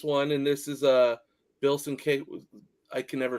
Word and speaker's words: Sienkiewicz: They're it's a twofer on this one, and this is Bill Sienkiewicz.